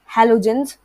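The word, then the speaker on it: halogens: सो are known as हैलोजेंस which means salt farmer. तो हैलोजेंस भी आप में से शायद बहुतों को नहीं आता होगा प्रोनाउंस करना, बहुतों को आता भी होगा. तो हा एलो एंड जेंस, हैलोजेंस.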